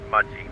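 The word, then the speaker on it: Mudgee: GTP pronounced Mudgy.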